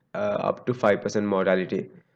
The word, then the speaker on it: mortality: is that you know the proper pronunciation of the word mortality i i hear even professors saying motility mortality is what you see in sperms right motility or mortality right that's not this this mortality death rate right morbidity sick